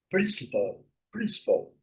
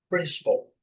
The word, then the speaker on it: principal: igual o nosso, né, mas a nossa sílaba tônica é na última, eles é da primeira, tá? Prin S principal principal principal, OK?